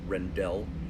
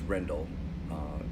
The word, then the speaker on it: Rendell: A lot of Americans pronounce it Rendell, but it's Rendell, as she corrected me freely the very first time we met.